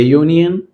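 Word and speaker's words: union: So normally अगर देखा गया तो यू जो है वोवेल लेटर मगर आवाज किसकी आ रही है? कंसोनेंट की आवाज आ रही है। यू यानी वाई की आवाज आ रही है। तब क्या बनेगा? ए यूनियन बनेगा।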